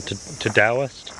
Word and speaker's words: Todoist: Apple Calendar, I do use Apple Reminders, but really I use Todoist, or Todoist, apparently that's how it's pronounced.